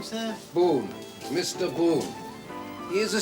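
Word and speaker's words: Bohun: Boon. Mr. Boon. He is a stranger to Mrs. Clon, so I may give you a card. If so, the name is spelled B O H U N.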